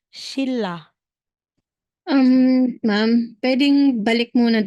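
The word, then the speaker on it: 신라: n magiging R so Kapag daw si n ay followed ni R si n ang bigkas niya is R so aside or Instead na sasabihin mong shinra magiging shilla um Ma'am pwedeng balik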